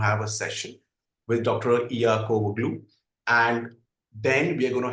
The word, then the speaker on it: Iakovoglou: Valasia Iakovoglou. It's difficult for me to pronounce.